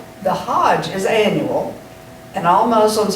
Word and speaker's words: hajj: trip to mecca the hajj it's not spelled like h-o-d-g-e but it's pronounced like hodge the hajj is annual and all